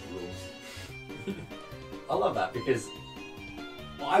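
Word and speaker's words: Rouxls: kind of cool yeah rules garden it's pronounced the rules i love that because i was always saying that every time i watched the delta ring player room it's like everyone kept saying ruxels yeah it's like isn't it obvious um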